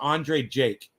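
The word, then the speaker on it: Andrei Jikh: space j-i-k-h all right that's how he spells him but it's pronounced andre jake thoughts go out to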